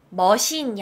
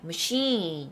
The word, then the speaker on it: machine: 머신이 아니에요, machine. 이렇게 발음이 sheen에서 길어져요, machine.